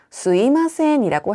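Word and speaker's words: すいません: 자이 스미마센이라는 표현을 회화에서는 스이마센이라고 할 수 있는데요. 발음하기 편하기 때문에 수미마샘이 아니라 스이마센이라고도 할 수 있다는 점을 기억하시면 되겠습니다.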